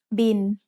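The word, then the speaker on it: บิล: It's the word bill, but we read it in Thai as bin. Thai doesn't naturally have the L sound at the end of a syllable, so it changes to sound like the letter N.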